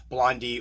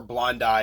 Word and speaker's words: blondi: Blondie or blond ey you'll notice I call them Blondie during the video I've heard it pronounced both ways that's one I'm comfortable with but I feel bad for people that pronounce it blonde because they're probably going to wince every time I say blonde anyway these guys are